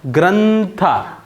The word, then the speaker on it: ಗ್ರಂಥ: ಓದಿದ್ರೆ ಗ್ರಂಥ ಅಂತ ಓದಲ್ಲ ನೀವು ಗ್ರಂಥ ಒಂಟಿಯಾಗಿದ್ರೆ ಮ ಕರ ಬರುತ್ತೆ ಮ ಉಚ್ಚಾರಣೆ ಬರುತ್ತೆ ಪದಗಳ ಜೊತೆಗಿದ್ರೆ ಬೇರೆ ಅಕ್ಷರಗಳ ಜೊತೆ ಇದ್ರೆ ನ ಬರುತ್ತೆ ಗ್ರಂಥ ಗ್ರಂ ಅಲ್ಲ ಗ್ರಂಥ ಇಲ್ಲಿ ಒಂಟಿ ಇದ್ರೆ ಗ್ರಂ